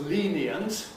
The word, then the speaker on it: lenient: If we take a word such as lenient, basically this is 3 syllables. Lenient. Lenient. But we have the option of compressing it, squashing it, into 2 syllables, and saying lenient.